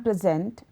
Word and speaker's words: present: A good example of this is the word present. If one were to say "I am present" with an emphasis on the first syllable of the word, one is referring to one's presence at a particular place or time.